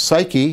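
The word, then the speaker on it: ψυχή: And this is important because this word suke, which we now pronounce psyche, is going to be the basis of the idea of psychology as a discipline.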